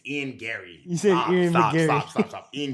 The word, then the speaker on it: Garry: to this obviously in McGary lost it's his first lost you say his name wrong too now why you said McGary that's his name no it's it's Ian Gary stop stop stop stop